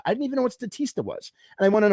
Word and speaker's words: Statista: a pretty big statista i'm not even saying it right it's not statistica it's statista i didn't even know what statista was and i went